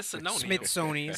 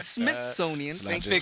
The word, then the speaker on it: Smithsonian: control the Mis misoni I'm saying it wrong come on smithonian Smithsonian it's not just me